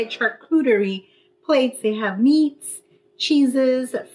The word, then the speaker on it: charcuterie: That's how you say it, charcuterie plates.